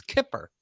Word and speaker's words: Kippur: The accent is on the kip. It's Kippur.